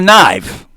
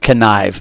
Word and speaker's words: knife: you can't bring a knife a connive this is how they spell it it should be pronounced connive but it is a knife um but there is